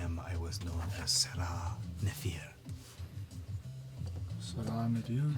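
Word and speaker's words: Serah Nef-ir: Before I was what I am, I was known as Sarah Nefir. Salam, dude. How do you spell that? SER-AH capital NEF dash IR. Okay. Sarah Nefir.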